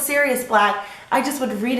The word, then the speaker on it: Sirius: azkaban for the very first time I said Cyrus black for the longest time instead of Syrians blog I think I pronounce it Cyrus black until like I saw